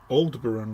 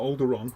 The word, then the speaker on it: Aldebaran: Aldebaran red, not Alderon, Aldebaran.